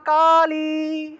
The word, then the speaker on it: কালী: Number বলবেন জয়ন্তী মঙ্গলা কালী। সবাই বলেন আমার সাথে, জয়ন্তী মঙ্গলা কালী। এই যে কালী যে শব্দটা আছে না, দীর্ঘইকার, সেজন্য একটু কালী থেকে একটু দীর্ঘ টান দিবেন, দীর্ঘ রূপে ই বলতে হবে আর কি।